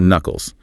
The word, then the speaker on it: knuckles: Specifically on your fingers, those are knuckles. Silent K knuckles.